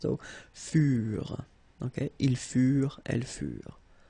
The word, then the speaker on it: furent: Keep in mind that ENT, you know, the ending for the plural form is never pronounced, so furent.